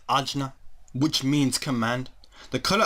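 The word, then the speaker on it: आज्ञा: the third eye chakra which in Sanskrit is pronounced ajna which means command the color of this chakra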